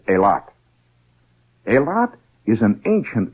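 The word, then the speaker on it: Eilat: is a tiny settlement called aot e i l a t or elot if you prefer it that way generally pronounced by the people in that area as aot a lot is an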